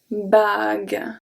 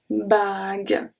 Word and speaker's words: bague: We add the U, even though we don't pronounce it, this is simply to keep the G as a hard G.